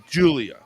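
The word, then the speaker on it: Giulia: Julia. That's how they spell it. So the I is silent and we use a G instead of a J.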